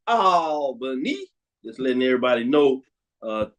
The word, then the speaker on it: Albany: on the road as Brandon King says it's pronounced Albany just letting everybody know uh Mike tells us